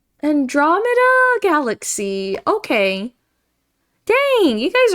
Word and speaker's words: Andromeda: Androme meta emphasis on two. Yeah. Two. Oh, Andromeda. Andromeda galaxy.